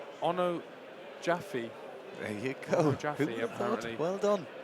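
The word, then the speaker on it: Onojaife: for the second half Jordan's surname is pronounced Ono Jaffe there you go well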